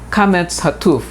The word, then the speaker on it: kametz hatuf: We talk about kametz hatuf. How do I know if it's a kametz or a long A and then a kametz hatuf, which means an O, short O?